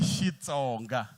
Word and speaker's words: Xitsonga: So how you say it is not Kri, it's she Tsonga. Aha, a hi swi beleni mavoko swinene. Ani va ha ku fika va ta swi tolovela ku i Xitsonga.